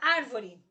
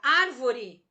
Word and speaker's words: árvore: Um exemplo da palavra árvore. A sílaba tônica da palavra árvore é ar. Veja, contando de fora para dentro, re é a última, vo é a penúltima, ar é a antepenúltima, acentuada graficamente, palavra proparoxítona.